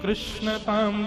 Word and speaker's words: कृष्ण: का नामकरण जैसे ही हुआ तब गर्गाचार्य जी महाराज बोले मैया आसन वर्णास्त्रयो ह्यास्य गुह्यतानुयुगं तनु शुक्ले रक्तस्तथा पीत इदानीं कृष्णतां गत।